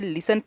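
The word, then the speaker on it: listen: है इसलिए हम इसे लिसन पढ़ रहे हैं लिस्ट नहीं लिसन हैं तो आपको समझ में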